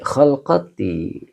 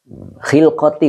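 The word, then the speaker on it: خِلْقَةِ: Khilqati, maaf bukan kholqati. Khilqati.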